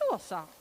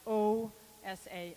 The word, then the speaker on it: Åsa: And my parents just looked at me and said, "Her name is Osa."